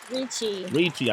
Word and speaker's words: Ricci: Is it Ricci or Richie? Ricci. I'm saying it right.